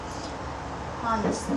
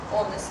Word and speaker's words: honest: Honest. Честный. Да, причем H не читается. Да? Honest.